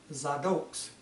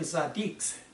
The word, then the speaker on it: tzaddik: So all believers in Messiah Yeshua truly are Zadoks, or better pronounced, we're really Zaddiks, righteous ones, after the order of Yeshua, who was the Melech Tzaddik, King of righteousness.